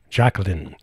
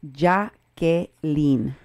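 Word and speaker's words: Jakelin: calm ma Quinn say her name justice fridge Jacqueline 90 minutes past Jake 90 minutes past before she was given medical attention it's actually pronounced JA gay lean jacket chuckling okay say your name Jacqueline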